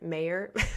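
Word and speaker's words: Mawer: it's Rudy Ma you it's m a w e r it's kind of they pronounce it a British way so I think he actually pronounces it mayor I always get it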